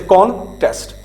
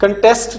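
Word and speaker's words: contest: कंटेस्ट नहीं आपने कहना, आपने कहना कॉन, सी एन कॉन, इस पे आपने स्ट्रेस देनी, कॉन्टेस्ट, ठीक है।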